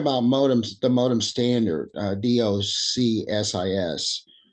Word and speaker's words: DOCSIS: So we're talking about modems, the modem standard, DOCSIS, or DOCSIS as it's pronounced.